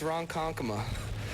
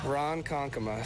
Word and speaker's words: Ronkonkoma: night and Bill got it right yeah it's Ronkonkoma Ronkonkoma so that's it if you're wondering Ronkonkoma okay